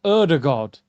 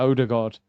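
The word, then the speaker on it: Ødegaard: I think that's how you actually meant to say his name. I heard um one of the Norwegian journalists. They said Erdig God, but you know, English were just like, "Yeah, odor god."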